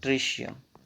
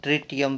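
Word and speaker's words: tritium: इसको बोलते हैं प्रोटियम, इसको बोलते हैं ड्यूटेरियम, और ये तीसरे वाला जो है उसको बोलते हैं ट्रिशियम, और ट्रिटियम भी बोल सकते हो अकॉर्डिंग टू स्पेलिंग, ठीक है।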